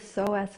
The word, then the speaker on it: psoas: And as a result, we can get really quite clenched through the hips, particularly the psoas muscle.